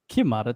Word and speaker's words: QiMata: QiMata Technologies.